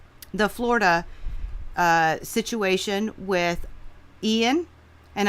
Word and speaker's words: Ian: situation with Ian and I'm pronouncing it as a Hispanic I don't know if Americans say I don't even know how Americans would say it i-a-a-i-a-n is the name of the storm for me it's Ian I don't know I'm not